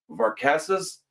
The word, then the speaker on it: Varkatzas: It's Varkatzas.